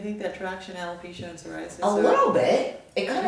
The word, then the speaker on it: psoriasis: One is psoriasis. Psoriasis. Yeah, I know you want to say psoriasis Because it's got that P right there. The P is silent.